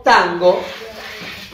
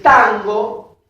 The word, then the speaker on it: tango: Porque esta N se nasalariza velarmente. Tango. Tango. No es lo mismo que pronunciar Nadia. Fíjense la diferencia. O naranja. Es como una N más continua. Es una N nasalizada, velar.